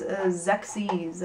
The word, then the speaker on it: Xexyz: And this is another one of those, Xyz, I believe that's how you pronounce it. You can pronounce it however you want, though. I don't know, it's XEXYZ, so take your pick.